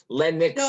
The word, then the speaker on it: Lenok: It's pronounced Lennox, actually. The Lennox.